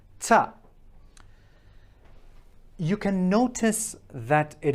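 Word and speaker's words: تاء: you say at, t, if you just keep on saying this sound, ta, you can already understand what's going on. So let's picture that these are your incisors, this is your tongue, and it's, so this is the outside of the incisors, where we can see when you smile, okay? From the inside, you're looking, and it's just above where the gums are starting. Ta, okay? Ta, right? And the tongue is actually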